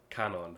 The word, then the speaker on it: Kanon: So I guess I'll just start with Cage and the flashback scene with Shannon and Kanon. I'm gonna try to break my habit instead of calling them Shannon and Canon because I know how